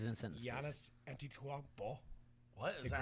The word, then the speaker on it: Giannis: Giannis. Giannis. Giannis. It's like yogging. Wow. Soft G. Yagin. Yeah. It's a Soft G.